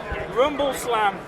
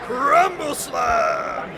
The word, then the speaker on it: Rumble Slam: did mention this game Rumble slam you got to say it like Rumble slam oh sorry Rumble slam that's how you do it that's how you do